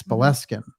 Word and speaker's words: Boleskine: I know we pronounce it Boleskine, but it's Boleskine, right? Yes, Boleskine.